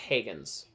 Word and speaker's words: Hagens: It's spelled Hagens, but it's pronounced Hagens. It's not Hagens or Hagens or whatever. It's not Haagen-Dazs, you know what I mean? It's not like, it's Hagens.